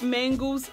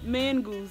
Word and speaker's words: Mongoose: go to mangos Junction say write mangoes mangoes now you're going to get a man goose Junction okay now you pushing it because I'm saying it right man goose pond goose so now you're going